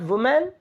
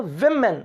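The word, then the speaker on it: women: याद रखिएगा, एक औरत वुमेन, ज्यादा होंगी तो विमेन, वुमेन नहीं विमेन। तो क्या होंगे? Young, old, main and विमेन, और है ना एंड विमेन, स्पेलिंग WOE होगा, कहने में V होगा।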